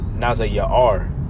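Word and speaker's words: נזיר: And then we'll get that word Nazarite to take the vow of a Nazarite, which that word Nazarite is pronounced Nazayar or Nazayar.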